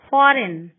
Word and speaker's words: foreign: G is not pronounced when it comes before N. Sign, foreign.